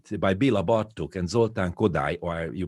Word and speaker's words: Kodály: to be collected by Béla Bartók and Zoltán Kodály, or you pronounce Kodály, in the turn of the 20th century was absolutely not known by the urban people.